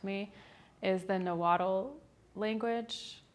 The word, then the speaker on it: Nahuatl: talk about was and forgive me if I mispronounce it and you can correct me, is the Nahuatl language. Nahuatl?